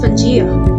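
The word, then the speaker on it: Pangaea: about the pangea huh but what it is pronounced pajeo it means all earth it is believed to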